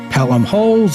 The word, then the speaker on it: Holles: We're still not sure about Thomas Pelham Holes, whether it's Pelham Holes or Pelham Holles, as we've seen other smart people say it both ways.